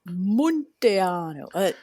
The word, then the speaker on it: Munteanu: Nina Montiano, it's it's pronounced Montano.